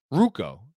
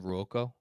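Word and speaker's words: Ruocco: at Milwaukee Chris Duhon ruko Andrew's texting me that ruko is the pronunciation what did I say Ryan Rocco I screwed that up I'm sorry Ryan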